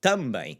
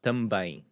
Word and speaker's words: também: So bem, then we have our também, and it has the accentuated symbol over the ein because that's the syllable that we want to accentuate, because the rule would be the so it'd be também, but it's not what we want. We want também.